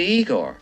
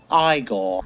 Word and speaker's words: Igor: You must be Igor. No, it's pronounced Igor.